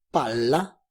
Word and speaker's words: palla: del italiano aclarando que la pronunciación incorrecta de las consonantes dobles puede dar origen a malos entendidos. Esto se debe a que el significado de una palabra pronunciada con una sola consonante o con una consonante doble cambia totalmente su significado. Pala è una pala, palla es una bola. Note son notas musicales, notte es la noche.